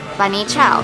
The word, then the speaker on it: bunny chow: we know it as bani chao it's called bani though because the english couldn't pronounce banya properly so they said bunny so cool oh my